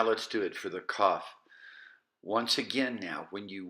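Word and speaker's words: כף: With the dagesh or the dot, it's just a K sound, kaf.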